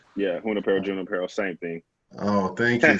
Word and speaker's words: Junípero: But George, out of Junípero Serra High School, did I pronounce it correctly? Yeah, Junípero, same thing.